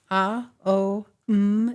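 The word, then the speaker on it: Aum: part of the oh as the oh m is chanted in four syllables a o m and silence yeah and it the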